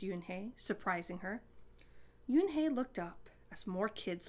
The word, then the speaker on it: Unhei: you and hey corrected it's spelled u-n-h-e-i it's pronounced yoon hey oh it's you hey the boy said like